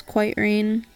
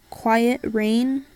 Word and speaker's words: Quiet Rain: like my YouTube it's quite rain um that's how everyone pronounces it it's actually my name funny story story time so my name is actually pronounced quiet rain it's a name I